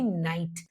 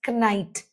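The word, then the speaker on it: knight: That is we do not produce the K sound in the word when it is at the beginning of a word and is immediately followed by N.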